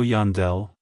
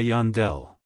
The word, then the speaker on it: Yandel: States it's pronounced as Yandel Yandel Yandel to pronounce it correctly emphasize the Yan and then smoothly transition into the Dell avoid emphasizing the D too much like hello Yandel goodbye Yandell if you found the